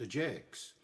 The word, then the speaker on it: Ajax: And he calls it that because Ajax was pronounced Ajax.